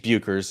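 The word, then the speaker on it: Bueckers: Paige Buchers is how you pronounce the standout player from UConn, who will soon to be in 2025 the first pick of a WNBA draft.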